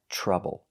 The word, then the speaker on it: trouble: Here we see the TR making the ch sound, like chicken. Trouble. And again, the OU is not making the ow sound, it's making the short U. Together, trub, trouble.